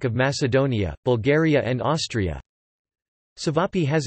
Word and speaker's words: Ćevapi: Ćevapi, pronounced TV, pie, or Ćevapcici, formal diminutive, TV, aptiti,